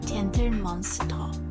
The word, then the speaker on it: Gentle Monster: In Gentle Monster, we'll learn that always you will change the LE ending sound into while the ER sound is always O. So Gentle Monster, Gentle Monster.